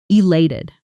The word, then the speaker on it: elated: Say it with me, elated. One more time. Feel the stress on the second syllable. E-la-ted. Elated.